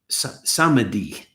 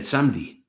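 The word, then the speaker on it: samedi: abbreviations like the word the word for Saturday is samadi, right? Same mi. Parisians say sdi. they just say sdi, right? It's like two two syllables.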